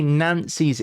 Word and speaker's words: Nancy: To say Nancy's in is like saying the word for in Nancy or Nancy as it's pronounced.